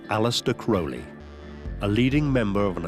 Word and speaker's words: Crowley: In his own writings, he said it's pronounced Crowley, it rhymes with holy.